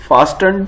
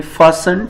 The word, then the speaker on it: fasten: ये T silent है यहाँ पे। अच्छा, इसको फासन भी बोलते हैं, फासंट, फास्टन भी कुछ लोग बोलते हैं, लेकिन फास्टन नहीं है, टी यहाँ पे साइलेंट है।